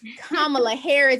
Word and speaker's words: Kamala Harris: Harris, and everyone tears her name up, but Kamala Harris is how you pronounce it for those who don't know.